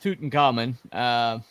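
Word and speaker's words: Tutankhamun: It's actually pronounced Tutankhamen.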